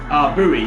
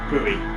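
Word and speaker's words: Bui: Bowie, it's B-U-I. Bowie.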